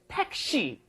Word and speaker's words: 택시: It's not taxi. It's 택시. 택시.